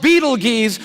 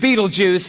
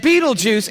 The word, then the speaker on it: Betelgeuse: heard about this star it's called beetle G's or Beetle Juice you can pick your pronunciation I'm obviously going with Betelgeuse and Betelgeuse is incredible here it